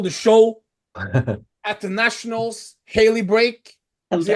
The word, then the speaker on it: Haley Brake: today we have the girl that stole the show at the Nationals, Haley Brake. Is it how Hello. you pronounce it, correct?